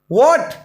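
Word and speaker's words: what: ए ए जाए तो हा साइलेंट राहत है जैसे व्हाट ए हा नहीं पढ़ा जाता मैंने अंडरलाइन कर रखा है जिसके नीचे अंडरलाइन है वो साइलेंट है हा नहीं पढ़ने वहां आठ नहीं पढ़ने हो व्हाट क्या पढ़ने हैं वोट एक नेक्स्ट शब्द क्यों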